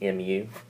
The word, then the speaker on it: mu: Just by the way, if you didn't catch this earlier, mu is a Greek symbol. It's pronounced mu, but we'll get that later.